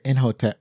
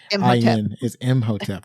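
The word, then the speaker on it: Imhotep: in the beginning where in hotep in oh I'm saying it wrong I'm saying is motep that is correct so the scene in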